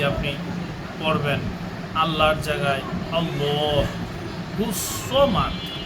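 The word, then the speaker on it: الصمد: আল্লাহর জায়গায় আল্লাহুস সামাদ, সামাদ নয়, সিন নয়, সদ। সদের উচ্চারণ এখানে অবশ্যই করতে হবে।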